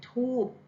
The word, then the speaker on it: ธูป: จันทน์ ที ก็ จะ ไป ถึง ธูป ก็ คือ ออก เสียง โดย ใช้ บ่ เป็น ไม้ นั่น เอง นะ คะ